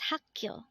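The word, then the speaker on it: 학교: water is mul next word is hakyo again this is pronounced as hakkyo and this is the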